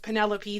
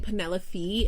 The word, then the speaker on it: Penelope: So I tried Googling it, and they are saying Penelope from Blood and Ash is pronounced Penelope. The E in Penelope is pronounced as a short E, like a pen.